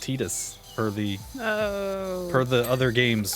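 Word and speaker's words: Tidus: But yeah, it is apparently pronounced Titus per the Oh.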